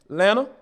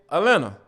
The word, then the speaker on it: Atlanta: and then you know depending on what side of town you're on you can pronounce the first t at atlanta or you could say elena a-l-a-n-n-a yeah i i'm cool